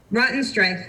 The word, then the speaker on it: Rottenstrich: Gail, how do you pronounce the last name? Rottenstrich. Rottenstrich, and she's the CEO of ZAGO Manufacturing, and welcome.